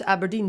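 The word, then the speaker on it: abrdn: yes a burden yeah you're supposed to pronounce aberdeen so essentially they're just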